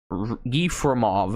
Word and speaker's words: Yefremov: Yefremov, I think that's probably pronounced that, was studying fossils in the Gobi